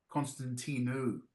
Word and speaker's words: Constantino: Um, I've been told that I even I don't say my name right because I've anglicized it. Um, Constantino is the correct way to say it, but it always feels a little strange.